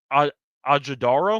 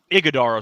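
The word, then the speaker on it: Iguodala: Booker, Beal, Allen, Dunn, and I forgot to pronounce his name. Ajadaro? Did I get that right? Iguodaro, sorry, I should have known that.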